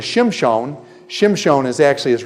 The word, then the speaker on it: Shimshon: no it doesn't but everybody usually pronounce it's Samson based on the Septuagint the Greek text of the Old Testament they don't even know why but actually his name is Shem Sean Shem Sean is actually